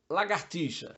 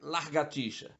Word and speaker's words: lagartixa: colocar o r como lagartixa ou largatixa esse animalzinho é da família dos Lagartos portanto é lagartixa R nas segunda sílaba não na primeira outra palavra que existe